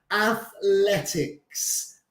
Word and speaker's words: athletics: So con la lengua entre los dientes.